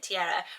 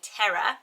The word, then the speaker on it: Tierra: I'm not 100% sure how you would pronounce it, Tierra, which I think you say terra, and it means earth.